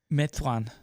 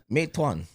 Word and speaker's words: Meituan: Meituan. Meituan. Something like that. I'm pretty sure that's how it's pronounced in Yeah, so Chinese DoorDash does 70% of theirs.